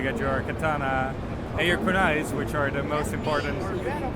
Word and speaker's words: Kunai: I'm here talking with Benjamin from TurtleBlaze about Kunai. Am I pronouncing it correctly? Yeah. Kunai?